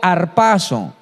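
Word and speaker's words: ἁρπάζω: el rapto de Enoc la palabra rapto se pronuncia en griego harpazo y harpazo es algo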